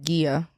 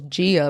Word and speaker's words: Gia: Club and his wife Gia, which I thought was Gia the whole time, but it's pronounced Gia.